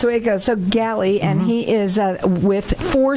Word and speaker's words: Gailey: go with my first guest, who is Chris Gailey. And Galley? Yep. I wrote it down just so I should say it, and I said it wrong. So that's the way it goes. So Galley, and he is with Four Seasons Home Services.